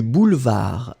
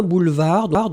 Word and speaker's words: boulevard: bien vous écrivez bien boulevard donc n'oubliez pas B O U l e V a r d un boulevard le D final n'est pas prononcé et puis finalement côté